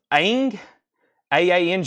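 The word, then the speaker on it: Aang: never had this before Avatar is his name pronounced Ang a a NG G with Momo I don't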